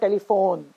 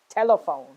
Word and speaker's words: telephone: a facebook messenger okay it's not telephone it's telephone okay similarly in the second